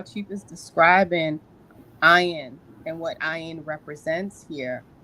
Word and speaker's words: Ayin: it interesting am right ion is pronounced like yeah so thank you um